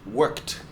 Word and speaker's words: worked: sound and it's pronounced worked okay it's best to imagine that the Ed doesn't exist at all um you can imagine